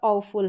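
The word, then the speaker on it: awful: जैसे यहां पर ओ फुल है। ठीक है? ओ फुल है। ए का उच्चारण ओ है। ए के बाद में डब्ल्यू है।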